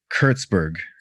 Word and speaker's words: Kurtzberg: Jacob Kurtzberg.